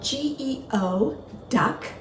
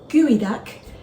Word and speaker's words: geoduck: people in the world it's spelled g-e-o duck it's not Geo duck it's pronounced gooey duck and it is a